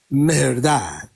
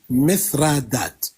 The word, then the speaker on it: مهرداد: اشك واكثر ملوكهم معروفين ب مهرداد مهرداد باللغه البالويه التي هي تلفظ من قبل الرومان بشكل مثرادات مثرادات وعندهم من الملوك من